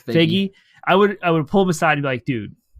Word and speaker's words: Feige: So if I could talk to Kevin Feige, is that how you pronounce his name? Feige. I think it's Feige.